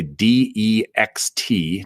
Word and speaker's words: Dext: Dex, D as in delta, it's spelled like next. Okay, dext.